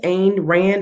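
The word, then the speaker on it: Ayn Rand: that's why i think it's aimed rand is how you um how you pronounce that and then another one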